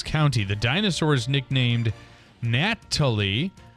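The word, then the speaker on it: Gnatalie: the dinosaur is nicknamed natal with a silent G for the gats that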